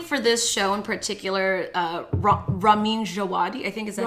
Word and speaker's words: Ramin Djawadi: No, I think for this show in particular, Ramin Djawadi, I think is that how you say it?